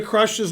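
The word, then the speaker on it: Krush: do also in theory irena crush's name is pronounced crush but we're not gonna we're gonna pronounce it wrong because that's better let's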